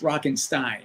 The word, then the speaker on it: Rockenstein: Like I would tell like the host, I would say, "Oh, it's Rockenstein." Like just like, "What's your intro?" Just pronounce my last name correctly.